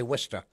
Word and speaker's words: Worcester: nobody can pronounce. If you're from there, you say Worcester.